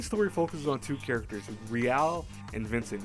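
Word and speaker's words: Re-l: So the main story focuses on two characters, Real and Vincent. Real is spelled R-E-L, but it's supposed to be like real.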